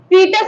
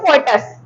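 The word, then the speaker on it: fetus: ठीक है, बोला है इन the embryo and the embryo is called फीटस, एंड the embryo is called फीटस और फोइटस, अलग अलग प्रोनाउंसिएशन है।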